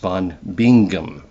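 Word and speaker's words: Bingen: at Hillgard von Benjen or as I have been instructed it's properly pronounced von Bingum but you know that's that's um no one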